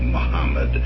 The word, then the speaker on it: Muhammad: all over the place represented as Mohammed, Muhammad, which is probably the closest to the Arabic, Muammar, Mahomet, etc., etc. There's a lot of different dialectical ways to pronounce it, but I think Muhammad is the closest.